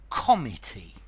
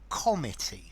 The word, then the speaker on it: comity: Now, the pronunciation of comity is different from committee. A committee is a group of people delegated to perform a function, but this is comity.